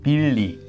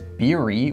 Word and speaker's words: Billy: for example, my name, Billy? No one would think this is Beery with an R. Of course, people would think this sounds more like an L.